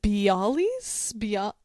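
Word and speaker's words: bialys: Is it Bali's be? It's spelled B I A L Ys.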